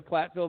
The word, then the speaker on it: Platteville: Have you ever been to Platteville, by the way? No. Okay, Platt rhymes with flat.